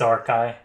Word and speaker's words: Archi: as a community so it is pronounced r-ky I have been educated